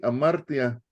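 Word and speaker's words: ἁμαρτία: Entonces, cuando oigan así, amartia, como de amar, amar, pero tía, la tía, amar, tía, quiere decir pecado, hermanos, es pecar, pecado, pecaminoso, ¿sí?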